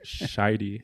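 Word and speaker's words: Shity: So shitey, if you're going to go phonetically.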